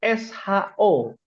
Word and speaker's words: ص: Jadi shad itu SHO bacanya. Bukan SYO. Bukan SYO dalam abjad. Nah, dalam abjad Indonesia bukan SYO tapi SHO. So.